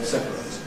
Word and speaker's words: separate: So ‘separate’ becomes becomes . That’s how we usually pronounce the adjective ‘separate’ . But it does have another possibility of slower form . The verb has no such possibility. You can’t say . It’s got to be .